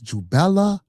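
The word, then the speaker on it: Jubela: So these 3 ruffians, you got the name wrong. It's Jubella, Jubello, and Jubalum, not Jubalan.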